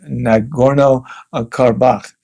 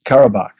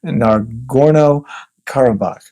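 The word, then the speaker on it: Nagorno-Karabakh: And there's a disputed territory called um Nagorno Carbach. Um Carabach, excuse me. Not a not an easy name to to pronounce. Naro Carabach.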